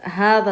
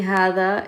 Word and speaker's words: هذا: هذا, remember whenever you see هذا, it's pronounced with that alif qasira on the ha. So it's هذا, not هذا.